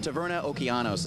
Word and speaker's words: Taverna Okeanos: We're back here in the Ocean Tavern, but that's not the right pronunciation. Taverna Okeanos is the correct pronunciation.